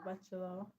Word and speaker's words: bachelor: Bachelor has stress on the first level. Bachelor.